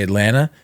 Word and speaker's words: Atlanta: like Toronto where people when they say Atlanta it's it's spelled like at l n n a right Atlanta right